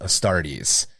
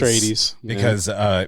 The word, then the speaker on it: Astartes: The one that I fucked up a lot in the early podcast was Astartes. Because- Astrades. Because I'm a Dune guy and House Atreides. So Of I would course, do Atreides instead of Astartes.